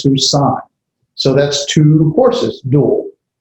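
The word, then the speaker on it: סוּסַיִם: just like in Greek, the diphthong, the two vowels are pronounced as one. So this is going to be susain. The A and the I sound as susain.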